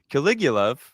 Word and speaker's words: Caligulov: I know you corrected me last time. Caligulov. I said it right this time. I just see Callie and I'm like, Callie?